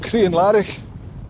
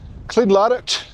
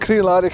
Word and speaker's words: Crianlarich: These hills are going to have to play with a place called Crianlarich. Spelled like this. For years I thought it was pronounced Clean Larich.